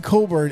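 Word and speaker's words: Cockburn: Fighting Illini with Kofi Coburn. And if you want a fun thing to do on a Sunday afternoon, go ahead and Google his name because it doesn't sound the way it's spelled.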